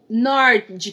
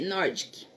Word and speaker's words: Nordic: que se escreve pronuncia não é bavarian norte que nordic n o r d e c nordic quando a gente escreve